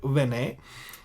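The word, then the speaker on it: בני: Bene, where there's no dot here, you normally pronounce Bene, or here Vene.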